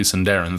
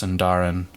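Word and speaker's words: Sindarin: Middle Earth are usually senderen throughout Lord of the Rings wait a second it's pronounced sundaran I've been saying senderen this entire time sorry to anyone who noticed that if I recall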